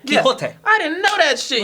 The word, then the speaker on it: Quixote: Is that how you pronounce it? There's an X in there, right? Yeah, Quixote.